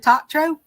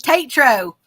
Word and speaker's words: Tatro: It's Tatro. Tatro. That's how you pronounce it.